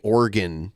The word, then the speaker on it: Oregon: We don't say Oregon or Oregon. I hear most people, even the people that live there, just say Oregon. It's 2 syllables instead of 3.